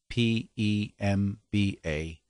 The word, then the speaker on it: Mpemba: it's called the um i hope i can pronounce this correctly the pemba m p e m b a pemba effect and essentially just that if you